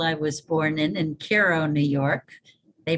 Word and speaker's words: Cairo: of the hospital i was born in in cairo new york they pronounce it cairo when it's in egypt but it's cairo in the hudson valley uh within a mile